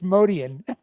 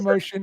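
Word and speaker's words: Motian: Excuse me, it's Modian. That's what I thought. It is Modian. Says Mr. Expert Jazz. No, I don't know. You say Motion, I say Modian.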